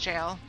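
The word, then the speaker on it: gaol: Granite jail hello and yes it is pronounced jail even though it's spelled like that that's actually a more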